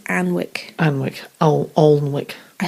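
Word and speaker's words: Alnwick: Battle of Anne Wick it's spelled a-l-n-w-i-c-k but I think it's Ann Wick and Wick Al olwick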